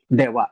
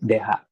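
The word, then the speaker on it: では: Then note that ito is pino-pronounce natin yan ng dewa. Hindi po deha.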